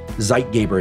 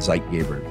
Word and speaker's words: Zeitgeber: light is the dominant Zeitgeber, called Zeitgeber because the people who defined this were German. And I'm pronouncing it incorrectly because I don't speak German.